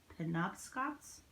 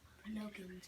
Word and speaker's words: Penobscots: Penobscots? Is that how they pronounced it when you read it? Penobscots? Pinocchio's, I think. No, there's a T at the end.